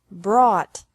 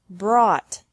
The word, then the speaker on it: brought: is the same bring brought brought by bought bought catch caught caught fight fought fought seek sought sought teach taught taught think thought thought remember that the g is silent in these verbs verbs with three different